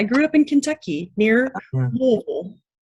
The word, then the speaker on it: Louisville: up in kentucky near louisville louisville louisville you've got to say it like you've got marbles in your mouth all right well i'm